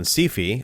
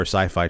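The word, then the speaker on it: Syfy: a short-lived television show on sifi or Sci-fi channel depending on how you want to pronounce it but it it was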